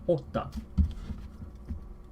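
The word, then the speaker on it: jota: So for J, might be a little funny for English speakers as well, because the J is pronounced as the English letter H. So this is actually hota.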